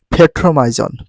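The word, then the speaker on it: Petromyzon: দেখো পেট্রোমাইজন, পেট্রোমাইজন, পেট্রোমাইজন। যদি ইংলিশে কারেক্ট প্রনাউন্সিয়েশন করে এরকম হবে ফেট্রোমাইজন, ফেট্রোমাইজন, ফেট্রোমাইজন। সঠিক উচ্চারণ, কারেক্ট প্রনাউন্সিয়েশন ফেট্রোমাইজন।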